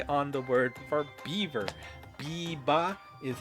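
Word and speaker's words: ビーバー: Biba is how you say it in Japanese.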